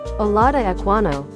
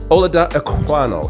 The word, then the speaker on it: Olaudah Equiano: Today, I want to talk about a brother, and I need to pronounce his name correctly, so bear with me. Olaudah Equiano. Olaudah Equiano.